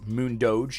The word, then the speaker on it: MoonDoge: Actually, it's Mund Doge is how you pronounce it.